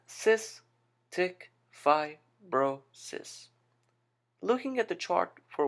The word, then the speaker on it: cystic fibrosis: begin with the terminology the term is pronounced as CIS tick F brois looking at the chart